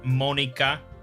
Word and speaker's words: Monika: I have been informed it is Monika. I was right about that, I guess. But it's not Natsuki. It's pronounced more like Natsuki.